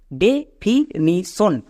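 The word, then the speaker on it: definition: যেমন ডিই এর জন্য কি হবে? ডি নাকি ডে ডে একে আমরা ভুল করেও ডি উচ্চারণ করবো না।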